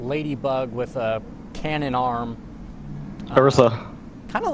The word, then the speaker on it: Orisa: Orisa. Kind of like got a ram's... Yes, it's Orisa. Is that All right. pronounced correctly? Orisa?